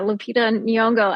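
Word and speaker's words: Lupita Nyong'o: cover and you know LED how do you pronounce it Lupita nonga yeah Lupita nongo and I didn't even know I was like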